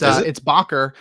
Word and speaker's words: Bakker: I had a headache about the way we were pronouncing Bakar's name, and we were wrong. It's Bakker, and also I've been calling him, and I've been calling him Luke.